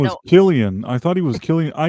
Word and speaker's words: Cillian: pretty It sure is it's Killian. Killian, yeah. It's Did I say pronounced that. Cillian? Well, that was my Yeah. autism. I used You to were make the thinking- same you were mistake thinking until somebody like a corrected me. Sicilian.